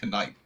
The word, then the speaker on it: knight: in the 13th century they were like, you gotta enunciate the K in night. You gotta say knight. And then later on, they're like, just say night. You just like the K is silent.